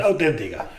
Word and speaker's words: CUT: ¿Qué es la CUTA o es CUT-AT? ¿Cómo lo pronuncian ustedes? CUT Auténtica.